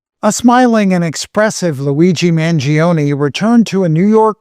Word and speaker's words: Mangione: And you're seeing here all of the security around Luigi Manion as he make so the Luigi how do you pronounce his name? Luigi the the Luigi Man Gion case. Luigi Manion.